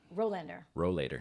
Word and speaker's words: Rowlader: YouTube, but it's Rowlader. Rowlader. Okay. Procrastinating want canoeist. Rowlader. Rowlader. I want to put an N in there. Yeah, so do most people do. Yeah, it's but the way it's spelled.